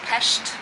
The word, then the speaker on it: Pest: the Buddha side because we're living on the Pest side, or how they say it here is Pest side.